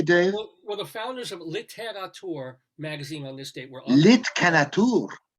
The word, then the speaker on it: Littérature: Well, the founders of Littérature magazine on this date were Littérature, literature, but they have an accent on the E.